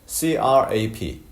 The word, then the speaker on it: crap: 그런데 CRAP, crap, A부터 P까지 굉장히 짧고요. 그 다음에 P 하고 딱 끝나버립니다.